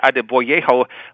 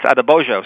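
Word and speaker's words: Adeboyejo: That, I thought it was Quincy Adeboyeho, but it's Adebojo.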